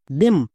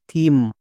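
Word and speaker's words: theme: জন্য দো ইউজ করব তাহলে এর উচ্চারণ হবে টি এইচ ই এম ই দেম একদমই ভুল এর উচ্চারণ দেম করা চলবে না এখানে টি এইচ এর জন্য থ হবে কেন এক্ষুনি বলছি এবার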